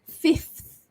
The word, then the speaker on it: fifth: The next sound is the consonant clusters FTH. That's a difficult sound for me as well. So it's fifth, fifth, right? You might even see your saliva popping out, fifth for that one.